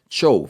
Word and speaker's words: Zhou: general es la famosa Dinastía show fíjense que se escribe sou se escribe zh ou y va a tener